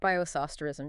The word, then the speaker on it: bioisosterism: So chemists use this technique, Bioisosterism. Is that how you say it? Bioisosterism, yeah, spot on.